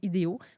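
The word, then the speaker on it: Idého: l'ai ça va s'appeler idéo parce qu'on est des idéalistes. Donc ça se prononce comme des idéos.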